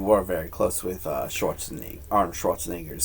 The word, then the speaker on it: Schwarzenegger: Schwarzenegger, not Schwartzenegger.